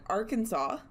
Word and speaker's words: Arkansas: In Arkansas, it is illegal to pronounce it Arkansas.